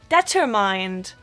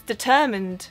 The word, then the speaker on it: determined: A lot of Germans say determined. Again, it's really quite creative, but it's determined, not determined.